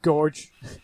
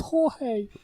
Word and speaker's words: Jorge: a gorge get up gorge it's pronounced jorge yeah i can i